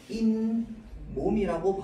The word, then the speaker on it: 잇몸: 자, 잇몸은요, 원래 이랑 몸이 합쳐져서 만들어진 단어입니다. 맞죠? 자, 그래서 사이소리 현상으로 해가지고 요 시옷이 들어가 있었는데, 우리가 최종 발음을 할 때는 결국은 인몸이라고 발음하기 때문에 발음상으로만 봤을 때는 이와 몸이 합쳐져서요, 인과 몸이 됐습니다.